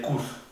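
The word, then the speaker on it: Kuss: Por ejemplo, kus, que significa beso, se dice kus, corto.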